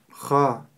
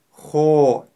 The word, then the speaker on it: خ: Ха. Также характерная ошибка при произнесении твердой буквы ха – это губы трубочкой, когда при произнесении которой получается звук о. Хо. Хо. Это неправильно. Мы произносим его так. Ха. Ха.